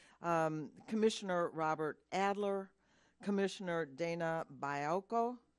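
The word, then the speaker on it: Baiocco: Commissioner Robert Adler, Commissioner Dana Bialko. Am I saying it right? Bialko. Okay, Bialko.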